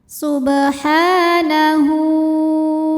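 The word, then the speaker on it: سبحانه: illahinasyaitanirrajim Bismillahirrahmanirrahim Subhanahu sub ada hukum Qalqalah Sugra karena ada huruf ba yang sukunnya sukun asli dan ada di tengah bacaan cara membacanya dipantulkan dengan pantulan yang kecil Subha Ha Ada hukum Mad Thobi'i muqaddar karena ada huruf ha yang berbaris fathah panjang maka cara bacanya kita panjangkan hannya dua harakat saja Subhanahu kemudian ada hukum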